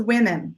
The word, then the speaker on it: women: is good a woman the plural is women which is short I sound short I sound in